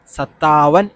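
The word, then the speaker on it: सत्तावन: തിറപ്പൻ ചോവൻ പച്ചപ്പൻ ചപ്പൻ സത്താവൻ ഇത് രണ്ടുവട്ടം ത പറയണം അപ്പൊ സത്ത സത്താവൻ അല്ല സത്താവൻ അങ്ങനെ പറഞ്ഞാൽ ത എന്ന് പറഞ്ഞാൽ കൂട്ടണം ഓക്കേ ഈ രണ്ടുവട്ടം ട വരുന്നുണ്ട്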